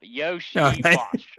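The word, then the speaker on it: Iosivas: No, I looked it up. Yoshi Voss, according to Wikipedia, because people call him Yoshi.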